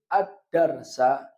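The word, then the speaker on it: الدرسَ: Bih dan dia mansub maka bacanya kataba Muhammadun addarsa addarsa maf'ul Bih mansub dengan apa fathah karena dia Isim Mufrad Ma'ul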